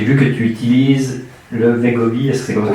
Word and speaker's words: Wegovy: Et puis aujourd'hui, donc je te suis sur les réseaux, donc j'ai vu que tu utilises le Wegovy, est-ce que c'est comme ça qu'on prononce? Le Wegovy, oui.